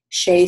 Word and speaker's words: Seay: Shay Stanford. Her name is spelled SEAY STAND, I think, FORD.